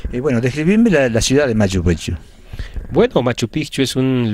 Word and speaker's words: Machu Picchu: La pronunciación correcta es Machu Picchu, con un pequeño acento.